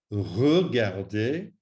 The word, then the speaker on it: regarder: Please note that little E must be pronounced as an E, otherwise it will sound incorrect and possibly not even understood. So, appeler, regarder, jeter.